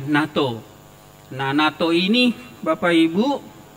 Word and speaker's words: NATO: Cara membacanya seperti apa sih? Neto atau NATO? Ya, yang sudah pasti tahu maksudnya, NATO.